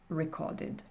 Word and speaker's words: recorded: Et en fin de dernière colonne, mon ED va se prononcer id, donc ce qui va donner painted, wanted, recorded.